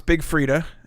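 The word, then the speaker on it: Big Freedia: track is from uh big fridia and this is from uh their album is it her album it's big frida and it's the eye is silent kinda and she goes by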